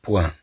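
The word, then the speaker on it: poing: فتنطق الطي ثم عندنا لو بوان لو بوان كما نقول ربطة اليد تسمى لو بوان طبعا كما تلاحظوا هاد الجي لا تنطق ثم عندنا لو سون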